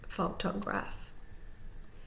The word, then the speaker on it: photograph: let's look at photograph photograph you see the slash above the P you see the slash on the bottom before the G fo then is primarily stressed graph is secondarily stressed and you see that